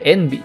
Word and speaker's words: Envy: le pide que ahora la llame env que en inglés es la pronunciación de sus dos primeras iniciales nuv y que quiere decir